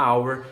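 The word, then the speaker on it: hour: tenho que dizer and our e não há our isso porque novamente o h não é pronunciado é um som direto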